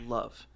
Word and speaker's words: LOVE: hands on, increasing their level as they go. Um, actually, it's not pronounced level, it's pronounced love.